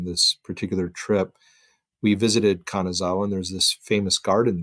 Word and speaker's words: Kanazawa: Kanazawa.